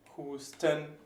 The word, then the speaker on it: Husten: And one last word, Husten. Again, Husten, 2 syllables, and it goes right through the ST.